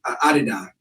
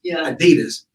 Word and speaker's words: Adidas: sex you know Adida Adida is the correct pronunciation but it's you know Americanized Adidas when I was growing